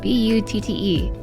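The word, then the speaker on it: butte: that is a butt it used to think it was called a but it's spelled b u tte but then I was corrected and told it was not a but but actually a butt like you know like you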